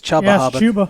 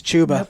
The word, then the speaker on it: Chuba: to watch forever I thought his name was chubba it's chuba learned that on Saturday learned too when ree Davis pronounced I'm like oh I think he's pronouncing